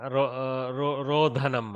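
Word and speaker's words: रोधनम्: So this will be Rodhanam or Rudhanam? Rodhanam, I think. Correct.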